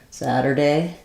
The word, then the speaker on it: Saturday: the word Saturday um so in American English we'll flap this first T um it sounds just like I was saying the word sadder I'm sadder than she is Saturday first syllable stress um so not a